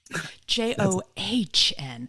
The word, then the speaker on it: John: that by the way the H in my first name is silent j o hn joh all right you are